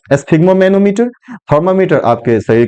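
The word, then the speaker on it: sphygmomanometer: इसका थोड़ा सा प्रोनाउंसिएशन कठिन है, लेकिन इसको इसके जब साइलेबल पे ध्यान देंगे, साइलेबल बाय साइलेबल, आसानी से इसका हम प्रोनाउंसिएशन कर पाएंगे। एस्फिग्मोमेनोमीटर, एस्फिग्मोमेनोमीटर, एस्फिग्मोमेनोमीटर, a device for measuring blood pressure, a device for measuring blood pressure.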